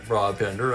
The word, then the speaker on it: Brabender: And a thanks go out to Kenyon for the pronunciation on Brabender.